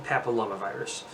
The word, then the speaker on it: papillomavirus: gonna pick you about the pronunciation it is human papilloma virus once I see it I can pronounce it